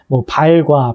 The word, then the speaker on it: 발: 그걸 말하고 발과 발이 있을 때 신체 일부인 발은 짧게 발음하는 거고 시나 국수발 이렇게 했을 경우에 실이나 국수의 긴 가락 같은 경우에는 이제 길게 발음한다.